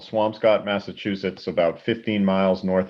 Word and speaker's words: Swampscott: How do you pronounce that? Swampscott.